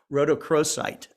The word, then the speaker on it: rhodochrosite: pronounce this right but I think it's pronounced rhodochrosite um and is that right David yeah you nailed it Scott yay okay a